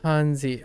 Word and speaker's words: 汉字: Let's learn Hanzi. I don't even know how to pronounce Hanzi. Actually, we can. 汉字 Hanzi. Oh, it's 汉字 okay. It's second tone.